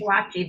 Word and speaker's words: Schillaci: Is it Shalaki or Shalaki? How do you say it? I say Shalaki. Tom I say Shalaki. Schillaci because I'm Italian.